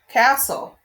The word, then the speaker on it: castle: So to mark this word, my first syllable is closed. My second syllable looks like consonant LE, but really it's an exception.